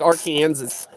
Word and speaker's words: Arkansas: Arkansas. Gotta say it like Arkansas.